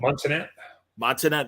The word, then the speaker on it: Montenat: Montenat, Michael Montenat.